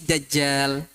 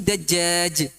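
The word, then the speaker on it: دجال: wa min fitnatil masihid dajjal. Itu yang benar. Beliau membacanya wa min fitnatil masihid dajjaj. Dajjaj artinya dajjaj. Ayam. Dajjal dengan dajjaj beda kan?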